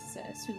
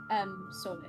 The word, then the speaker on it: Sule: It is Sule, by the way. Sule? Sule. How did I pronounce it? I'm so sorry. Sole. Sule. Okay.